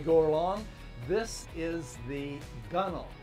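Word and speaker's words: gunwale: deck as we go along this is the gunnel it's spelled gun whale but we pronounce it gunnel and then below that this is all hulk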